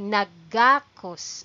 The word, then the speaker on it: nagakos: this the pronunciation here the stress is on ga okay nagakos okay nagakos sila that